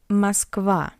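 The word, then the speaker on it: Москва: Musva Moscow. A is stressed and O is unstressed.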